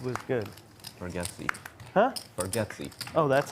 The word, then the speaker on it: Bargatze: You said Nate Bartskate was good. Bargatze. Huh? Bargatze. Oh, that's how you say it? Oh. It's spelled like Bargatze, Oh.